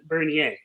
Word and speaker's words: Bernier: I use the French pronunciation Bernier, but Bernier Bernier, is fine. like Perrier, Bernier.